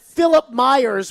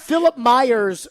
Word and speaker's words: Philip Myers: on the show when I found out that Philip Myers, we now know that's how his name is pronounced. It is indeed Philip. We were putting a little bit too much spice into it. Yes. Philip Myers, we now learned that his name is Philip